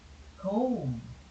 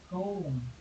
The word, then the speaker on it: comb: and the proceeds control comb comb remember this is a word which is silent b comb like doom wound these